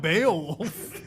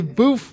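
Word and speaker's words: bœuf: Boof? I don't know. It's definitely not Beowulf. It's a bouffe braised a la Bordelaise.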